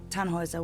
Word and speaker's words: Tannhauser: what's your name Tannhauser we'd pronounce it tan Wazza with an umlaut German roots yes my